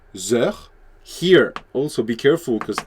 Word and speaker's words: heures: And since the sound is a vowel, like vowel sound, the H is silent here, you have to do a liaison between this and this.